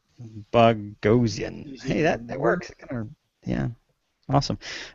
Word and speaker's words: Boghossian: Who I don't think I've met him, but he says it's pronounced like explosion. Boghossian.